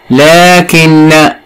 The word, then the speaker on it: لكن: لكن نضع تحتها خط لأنها بها حرف ينطق ولا يكتب.